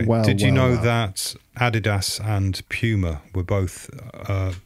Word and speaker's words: adidas: went on to start adidas and puma respectively wow adolf dassler is what adidas stands for so all those americans saying adidas it's adi das adi dassler right so you're wrong and